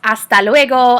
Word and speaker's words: hasta luego: um a note about hasta luego hasta pronto hasta manana remember that even though they start with the letter h the letter h is silent in spanish so we